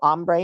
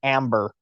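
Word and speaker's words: hambre: Well, you if you want to use this with siri, you have to pronounce it amber, like the name amber or the color amber instead of ombre because that's how siri will say it is amber.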